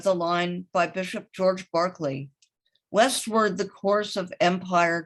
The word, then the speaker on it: Berkeley: of california at berkeley and bishop barkley yes the pronunciation was bent for american ears and berkeley california a